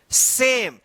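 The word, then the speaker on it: same: उसका कोई उच्चारण नहीं होगा। तो यहां पे देखिए एस एच ए एम ई सेम देखिए यहां पे वोवेल ए है और ए के बाद क्या है?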